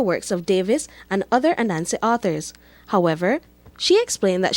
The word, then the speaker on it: Anansi: That the word Anansi itself, we could have it as Hanasi, Hanansi. So that's one of the few words with 4 variant spellings reflecting different pronunciations that appear standard across the country.